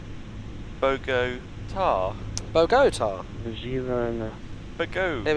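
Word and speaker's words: Bogotá: Oh, Sydney says the emphasis is on the last syllable, so it's Bogota.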